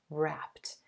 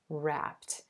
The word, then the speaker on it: wrapped: wrapped up notice that the e d ending in this word is pronounced like a soft t sound wrapped wrapped and that t again